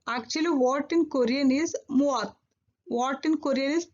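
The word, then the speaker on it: 무엇: Actually what in Korean is muat. What in Korean is muat. For simplification and simple use, we are pronouncing what in Korean is mo.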